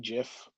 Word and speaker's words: GIF: And I had to psych myself out because it's like G like in Ghost or G like in Gel.